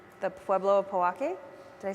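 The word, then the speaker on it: Pojoaque: that we are on the homelands of the Powake. Did I say it right? The Pueblo of Powake.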